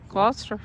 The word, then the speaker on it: Gloucester: Gloucester.